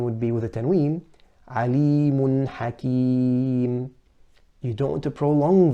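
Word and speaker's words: عليم حكيم: We want to say alimun hakim, no qalqala on the noon. So making it, pronouncing it clearly with izhar without a qalqala.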